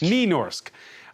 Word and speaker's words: Nynorsk: And they're translated from Norwegian, or should we call it, how do you pronounce it, Nynorsk? Nynorsk. Nynorsk.